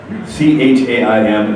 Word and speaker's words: Chaim: C-H-A-I-M, it's pronounced Chaim, it's got that little throat sound.